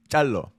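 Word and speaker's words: Calloo: name because it's spelled How is it spelled? C-A-L-L-O-O. C-A-L-L-O-O. And it's Kalu. Chalo?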